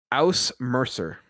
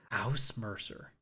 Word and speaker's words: Ausmerzer: You know, if you're going to give me a trophy, you might want to say how to pronounce it one more time. Aus Mercer. Aus Mercer.